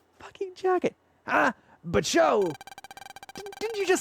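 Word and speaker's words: Chaud: So I believe it's I believe it was pronounced show. Though to be fair to be fair, the anime always pronounced it chod.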